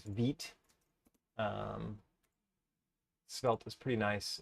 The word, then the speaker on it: Vite: also runs on veet which by the way apologized for pronouncing this as vite for so long it is veet um svelt is pretty nice and veet has been pretty great